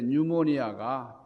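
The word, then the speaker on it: pneumonia: 자, 푸뉴마 할 때에 이 피, 영어로는 이 피를 발음을 안 하니까 묵음이 돼가지고, 그래서 뉴모니아라 그러는데, 뉴모니아가 폐렴이잖아요.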